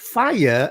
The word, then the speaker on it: fire: i r e fire you think normally it's got two sounds but in the vocabulary you also need to pronounce that right it's in fact fire has got three sounds far higher fire so now not only